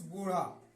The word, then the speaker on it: bow: अब देखिए यहां पर BOW, यहां पे O और W एक साथ है तो इसका उच्चारण भी वही होगा जो O का होगा।